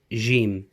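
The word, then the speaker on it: ج: Okay, so we move on to our second letter, today, and this letter is called Jim, and the sound is like a J, basically.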